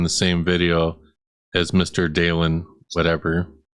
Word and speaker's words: Dalen: Dalen is how you say his name.